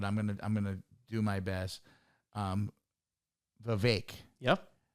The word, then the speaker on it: Vivek: also ran, and I always pronounce this name wrong, but I'm gonna do my best. Vivek. Yep. Vivek Ramaswamy.